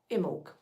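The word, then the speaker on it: Imbolc: Um, and that pagan festival is Imul. It's spelled I M B O L K.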